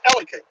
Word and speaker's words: Ellicott: I said, it's Ellicott. You got to cram those words together.